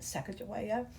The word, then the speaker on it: Sacagawea: But Lewis and Clark and let's not forget Sacagawea. Uh many ways to say her name, that's how I say it.